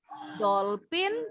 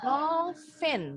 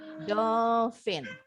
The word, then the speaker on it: dolphin: Nah, baca PH bunyinya F ya. Contoh, jadi kalian nggak boleh lagi bilang dolphin, tapi dolphin bacanya. Dengan huruf F, dolphin.